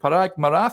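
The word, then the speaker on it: Parag Marathe: at the helm uh is it is it parag Mara is that how you pronounce it that's right yeah um he took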